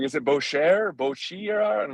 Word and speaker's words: Boetjer: Boetjer is right. It's German. It's hard to pronounce.